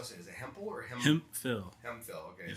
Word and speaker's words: Hemphill: it is it phil hemphill okay so it's the f sound yeah yeah and uh